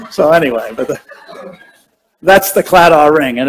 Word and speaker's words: Claddagh: And Claddagh is how it's pronounced, but if you do it in Gaelic, it's Claddagh. So they kind of spit everything in Gaelic.